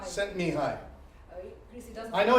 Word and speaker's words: Csikszentmihalyi: Csikszentmihalyi. Csikszentmihalyi. Csikszentmihalyi.